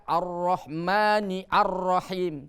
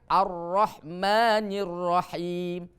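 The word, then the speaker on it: الرحمن الرحيم: Tidak boleh kita baca Ar-Rahmani Ar-Rahim. Tidak, tapi dibacanya Ar-Rahmanir Rahim.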